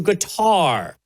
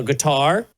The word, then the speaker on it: Qatar: The big controversy for a lot of folks online is I guess a bunch of conservatives went to guitar or cutter, depending on how you say it, including apparently Don Jr.